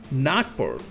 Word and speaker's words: Nagpur: So today we are going to look at one of the less known Formables in game, Nagpur, and that is the correct way to pronounce it.